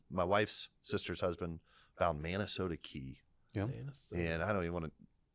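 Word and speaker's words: Manasota: It took me about 8 times to try and remember how to pronounce it. Minnesota. It's like Sarasota.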